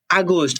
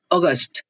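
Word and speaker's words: August: জিনিসগুলো জানা থাকা লাগবে যে নেটিভরা কিভাবে মেইনলি উচ্চারণ করে যে এপ্রো এরপরে কি আসে জুলাই এরপরে হচ্ছে আগস্ট এটা মেনলি আমরা বলে থাকি নেটিভ বলে অগস্ট এটা হচ্ছে মেনলি সঠিক প্রনাউন্সিয়েশন অগস্ট এরপরে সেপ্টেম্বর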